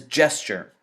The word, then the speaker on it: gesture: The word gesture, even though it's written with a G, it is pronounced like a J. So this word isn't gesture, it is gesture.